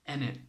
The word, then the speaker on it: innit: You might hear us use "enit." It's spelt in it with an I, but it's pronounced enit.